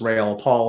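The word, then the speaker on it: Raoul Pal: with what i heard raul technically pronounced rail paul saying i've interviewed him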